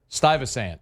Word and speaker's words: Stuyvesant: Stuyvesant.